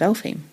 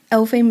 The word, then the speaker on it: Elphame: isabel gowdy episode but the name queen of elephant el fame is spelt e-l-p-h-a-m-e oh i see but it seems to come from like the way a scottish person would say elf home of course yeah i